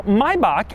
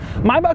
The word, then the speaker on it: Maybach: you around the s600 a little background now mybach and yes that is the correct pronunciation maybach was initially a luxury car brand like 100